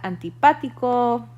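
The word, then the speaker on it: antipático: adjectives so alto alda antipatico which means unpleasant um or antipathica notice that that one has an accent on that uh that second a bajo bonito bueno delgado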